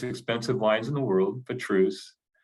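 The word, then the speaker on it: Pétrus: wines in the world for truce um and that's how you say it people not Petrus yeah and um that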